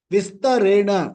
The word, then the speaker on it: विस्तरेण: One syllable here and there, your your tune goes haywire. Vistarena, I say viste, gone, my tune is gone.